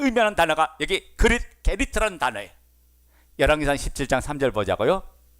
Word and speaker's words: 그릿: 그릿 시내가죠. 이 그릿은 영어식 발음이 아니에요. 성경이 기록된 대로 발음하면 게리트.